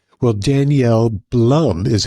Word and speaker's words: Blum: No, it's always been Blum. Just here they always pronounce it as Bloom and then I just